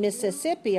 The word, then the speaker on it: Mississippi: Notice that these S's are pronounced like a Z. Missouri. But the ones in Mississippi are pronounced like voiceless.